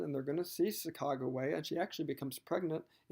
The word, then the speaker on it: Sacagawea: The woman's name, people typically say Sacagawea. I believe the accurate pronunciation is Sacagawea, but that's tomato, tomato.